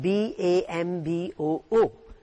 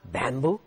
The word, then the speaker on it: bamboo: falls on the second part hotel the word b-a-m-b-o-o it's not it's not bamboo it's bamboo and you will notice in the